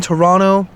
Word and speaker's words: Toronto: like if you're in Toronto um or toron depending on how you say it if you're Canadian you say Toronto you don't pronounce that last T um but yeah in